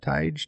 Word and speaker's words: Tige: Is that how you pronounce that? Tige? Teague, I think. I think they call it Teague. Okay, Teague. That's a Grand Knight dog.